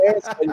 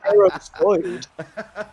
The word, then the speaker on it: Aerosoid: It's not Airside, it's Aerosoid.